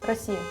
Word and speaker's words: Россия: How do you pronounce Russia? Россия.